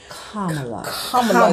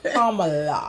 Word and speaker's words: Kamala: Kamala. Tell her how you can remember how to pronounce it. Pamela. Put a P on it.